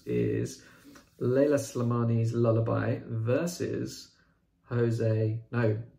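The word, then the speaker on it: José: And then our final tie in the quarterfinals is Leila Slimani's Lullaby versus Jose, Portuguese pronunciation, Jose Saramago's Death at Intervals, domestic thriller versus magical realism.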